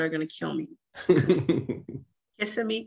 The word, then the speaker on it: Kissimmee: Kissimmee. Kissimmee. I think that's how you pronounce it. Kissimmee. Because if you pronounce it the other way, they get angry.